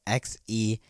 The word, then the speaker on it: Xehanort: zainer is a weird name it's really spelled x-e-h-a-n-o-r-t i don't know why i gotta explain it